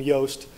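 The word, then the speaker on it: Yoast: plugin by G name yast um it's sounds like toast with a Y um pronounce it but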